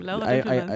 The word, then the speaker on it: Laura Dümpelmann: my name, Laura Dümpelmann. And I pronounced it correctly, Yes, right?